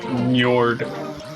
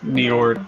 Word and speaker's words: Njord: I think it's actually pronounced more like Njord or Niord because it's an obvious literal copy of, you know, the Old Norse god. I just say Nyard because I'm lazy, I guess.